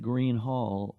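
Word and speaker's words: Gruene Hall: We just got through playing at Green Hall in New Braunfels. That's the place that's spelled Grune. It looks like Grune, but they just call it Green Hall.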